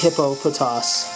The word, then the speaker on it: Hippopotas: lives there hippopotas nice and yes it is pronounced hippo poas just for the record because I did indeed